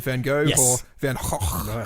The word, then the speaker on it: van Gogh: This is about the life and times of Vincent van Gogh, or Van Gogh, I think as it's pronounced in Dutch.